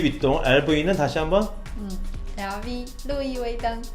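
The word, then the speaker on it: 路易威登: 루이웨이등 아니면 그냥 LV 중국인들은 LV라고 해요. 쌤이 지금 LV라고 얘기한 건데 네. 중국의 V 발음이라서 두 번씩 해주세요, 쌤.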